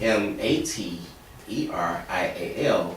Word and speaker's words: Matirio: Just hence my name is Matirio, even though it's spelled Matirio. It's Material.